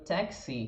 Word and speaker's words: taxi: Repara que no taxi, que é a palavra que a gente tem em português também, se a gente fala táxi, é diferente. Taxi. A gente marca um pouquinho mais a sílaba final.